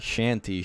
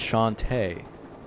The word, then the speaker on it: Shantae: They made Shantae. And this is an indie game. Shanty. No, Shantae. Yeah, Shanty. Not Shanty, Shantae. Yeah, Shanty. I mean, are you black? It's Shanty. No, it's Shantae.